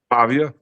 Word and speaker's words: Pavia: This diia, how do you pronounce his last name again in Philly? Pavia. Pavia. Pavia.